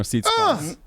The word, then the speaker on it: Tsitsipas: Yeah, 2 sets to love to Stefano Tsitsipas.